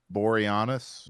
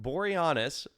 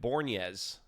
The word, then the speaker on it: Boreanaz: And then David, how did you say his name? Boreanaz. Boreanaz. My high school girlfriend called him Bornez, because she loved Buffy.